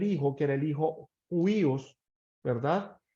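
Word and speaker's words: huios: que era el hijo huíos verdad h u iOS algunos lo pronuncian como judíos y en la tradición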